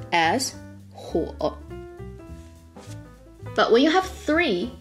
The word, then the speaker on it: 火: Fire on itself is pronounced as 火.